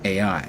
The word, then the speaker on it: Ai: promised land, taking out Jericho first, and then Ai, or as some people like to pronounce it, Ai.